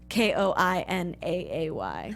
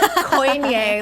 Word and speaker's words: Koine: That's at Koinaay, like Koine. Yeah, it's like so people know how to say my name. But right. not Koine, like poor Nigel said the whole.